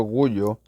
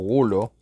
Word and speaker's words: Gullo: Voy a hacer un video esta vez hablando acerca de Marcelo Gullo, o Gulo, es un apellido italiano, así que en realidad lo pueden pronunciar como quieran, que es un profesor